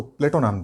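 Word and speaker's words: Πλάτων: जो एरिस्टोक्लिज था उसको प्लेटो नाम दिया। एरिस्टोक्लिज किस में बदलता है, प्लेटो में। प्लेटो का जो वास्तविक उच्चारण है, प्लेटो शब्द है उसका जो वास्तविक उच्चारण है वो प्लाटोन है।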